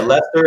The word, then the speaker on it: Worcester: Yeah, Lester is spelled Lester, and I'll be damned if it's spelled that way on the sign.